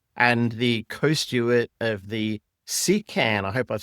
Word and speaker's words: CKAN: We're talking to Steven D Costa, who is the executive director of Link Digital and the co-start of the SECAN, I hope I've said that correctly, project CN project.